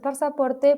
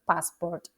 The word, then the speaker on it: passport: él siempre empaca su pasaporte primero fíjense que passport se pronuncia sin una sin una segunda a no se dice pasaport sino que es passport he Always packs his